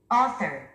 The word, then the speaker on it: author: 스트레스 맨 앞에 있습니다. Author. Author. 우리 한국인들은 이 단어를 보통 author 또는 order 이렇게 발음을 하죠. 근데 원어민들은 author, author, author, author, author.